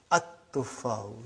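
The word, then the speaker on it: التفاح: But now your mind knows that that is a sun letter. So you will pronounce as at-tuffahu.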